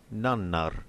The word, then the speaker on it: nannar: now see the word nannar, meaning others. So again, a clear example why it's very important to pronounce double consonants independently, as the meaning will change if you don't.